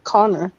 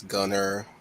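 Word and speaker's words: Gunnar: I thought it was Connor. No, it's Gunner. No. It sounds like Connor. I know that, yeah, but it's really Gunner.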